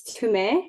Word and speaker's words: Tumee: it so for your listeners my name is timay usually people pronounce it to me but it's to me